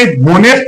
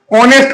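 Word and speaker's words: honest: एच यहां पर silent है बच्चों। साइलेंट होता है। तो यहां पे होनेस्ट नहीं ऑनेस्ट का साउंड दे रहा है।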